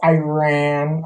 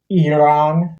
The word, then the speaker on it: Iran: Like, I feel like ever since this whole Iran or Iran, as it's actually pronounced, war BS has happened.